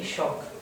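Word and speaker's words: Chauk: son Juan Sara y shock si está bien pronunciado shock ch Exacto eh habría que preguntar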